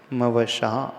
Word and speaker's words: मवशा: एक तालव्य श है, मवशा अवश्य, और समुपैति में दंती स आता है।